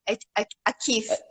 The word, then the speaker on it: Aqieve: So it's Achieve. achieve. Okay. Yes, to achieve something. So it's spelled AQIEVE. QI means chi, which is CHI, which is Yeah.